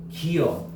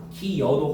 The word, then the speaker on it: 기어: 원칙은 기어야. 당연하죠. 두 개가 붙었으니까. 근데 허용은 반모음 첨가로 뭐도 허용해 준다는 거야? 기여도 허용해 준다는 거야. 알겠니?